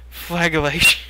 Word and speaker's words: flagellation: It's like a religious flagellation meant to atone for one's sins. Is that how you say that? Flagellation. Okay. I did the hard G instead of the J.